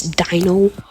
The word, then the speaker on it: Dino: Um, I can't I can't be asked to What do you mean you can't pronounce my name? It's Dino.